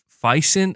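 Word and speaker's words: Physint: whatever this game is uh fison I guess that I'm trying to figure out that's how you pronounce it p h y s i n t that's the working title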